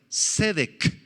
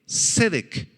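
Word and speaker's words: צדק: perdurable esta palabra justicia cedec en hebreo s e d e e q con acento en la primera e cedec describe el cumplimiento absoluto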